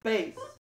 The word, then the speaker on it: bass: This deep male singing voice is spelled the same as a fish, but it's pronounced differently. What is bass?